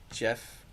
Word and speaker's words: Geoff: I'm gonna assume this guy's name's Jeff, but it's spelled Geoff. Jeff Hartlieb.